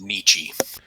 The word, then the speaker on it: niche: combat like this sweet that word is pronounced nietzsche i i feel like